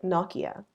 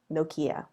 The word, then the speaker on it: Nokia: In the UK, they pronounce it Nokia. In America, Nokia.